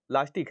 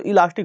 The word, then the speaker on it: इलास्टिक: जाता है इलास्टिक और कई लोग गांव की भाषा में बोलते हैं अपने यहां बोला भी जाता है इलास्टिक है लास्टिक है लास्टिक लास्टिक बोलते इलास्टिक शुद्ध उच्चारण तो इलास्टिक होता है लेकिन उसको क्या कहते